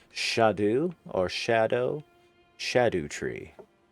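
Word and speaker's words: Scadutree: It's spelled C R S C A D U tree but pronounced shadu or shadow shadow tree and it's the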